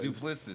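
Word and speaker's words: Du Plessis: It's Duplessis.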